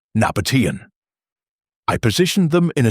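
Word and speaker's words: Nabataean: Pronunciation: Nabatian.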